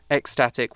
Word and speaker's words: ecstatic: first one is ecstatic so it's ecs but we pronounce that as x x static which means really really